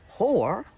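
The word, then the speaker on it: hoar: Whore is a noun. But did you know there is another pronunciation of whore, H-O-A-R, which is an adjective.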